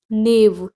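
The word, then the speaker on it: knave: निर्दयता एट्रोसिटी या क्रुएल नेव के साइलेंट है नेव मतलब रोग दुष्ट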